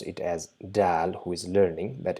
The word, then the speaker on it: د: base of the back, just touch the tip of the tongue to the back of the incisors and try to produce the sound Dal.